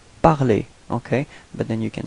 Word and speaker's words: parler: Okay, well, pronunciation is the same, parler, parler.